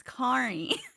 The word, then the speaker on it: Kari: Yeah, I was actually about to say, one day you'll say my name right. It's Kari. It's Kari.